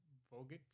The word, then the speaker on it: Vogt: Then we're gonna do Vogt. That's how you say it.